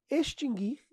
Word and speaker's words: extinguir: distinguir extinguir e adquirir não tem o u pronunciado exatamente pessoal é distinguir extinguir e adquirir você não